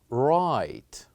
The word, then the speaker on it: write: listen the word is write right say after me right so what is the letter that here we kept silent it is the letter W here we said right